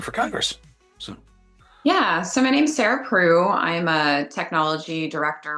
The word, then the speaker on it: Sarah Preu: So joining me today is Sarah Preu. Did I pronounce that correctly?